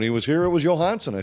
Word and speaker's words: Johansson: was this well it Marcus Johansson is an example when he was in Washington they all called him Johansson and when he came here I went to him asked him he said no it's Johansson and so every time